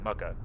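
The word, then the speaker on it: Mucca: Their name is Mucka BB. I don't know if that's actually how you say it, because it's M-U-C-C-A. But yeah, we're gonna raid them over real quick. Oh, no, not Mocha. Mucka.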